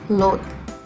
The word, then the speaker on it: loath: The words are loath and loathe. Firstly, there is a subtle difference in the way we pronounce these words. This word, which ends at H, can be rhymed with both.